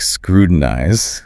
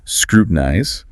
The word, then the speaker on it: scrutinize: You will hear native speakers, especially in faster speech, use a flop T, so it sounds more like scrutinize. Scrutinize. Yeah, but the standard three-syllable pronunciation, scrutinize, S-K-R-U-T, and gerdize, is also perfectly fine. So it's just important to be able to recognize both. Exactly.